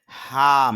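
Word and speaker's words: harm: এটাকে বলা হয় হার্ডলি হাম এখানে আর এর উচ্চারণ হবে না তাহলে এখানে একটু দীর্ঘ হবে এজন্য বলতে হবে হাম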